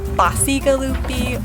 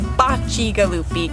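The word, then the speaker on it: Bacigalupi: vineyard the bocce galoofi vineyard people might say bossy galoopy or bakigalupi say that one more time since that is the most unbelievably difficult name well so it's pronounced correctly bocci galoopy kisses of the wolves in italian but right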